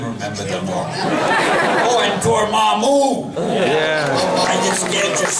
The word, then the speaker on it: Dormammu: Oh, and Dormammu! Yeah. I get scared just saying the name. And now you know how it's pronounced.